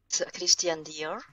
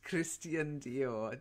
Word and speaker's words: Christian Dior: and who knows how to pronounced it to pronounce it Christian Dior that's it's Christian Dior did fight Adam Christian Dior yeah nothing to